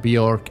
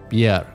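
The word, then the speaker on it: Björk: that which was bjerk i was going to say bjork but it's not bjork i've just learned recently that it's bjerg i hope i'm pronouncing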